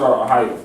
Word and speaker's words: Ahiyah: And you gotta like, you know, say it like Ahiyah. ASHER, Ahiyah. Yes, sir. That's how you pronounce his name.